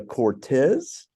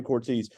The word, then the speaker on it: Cortese: assets Financial here in Ridgeland so not the Cortez yeah I say your name wrong every time I've had her three times and I always say her name wrong Cynthia Cortese uh we thank you so much for joining